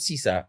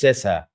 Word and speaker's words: Sesa: It's not Sisa, it's Sesa, Francesco Sesa.